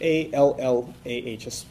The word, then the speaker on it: Allah: That would be spelled in English A-L-L-A-H, an emphasis on the L, okay, Allah.